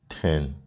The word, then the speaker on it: t3rn: be able to redeem 10 now TRN is pronounced 10 okay now you're going to be able to